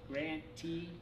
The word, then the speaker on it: grantee: to remember that okay grante rhymes with receiving so the party receiving